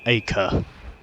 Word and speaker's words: Acre: get on with whatever the hell is in Acre. Even though it's pronounced Acre, I just prefer to say Acre.